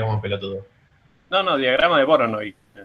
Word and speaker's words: Voronoi: voy a quedar todo el tiempo diciendo la pronunciación incorrecta en el video y voy a quedar como pelotudo. No, diagrama de Voronoi. Voronoi.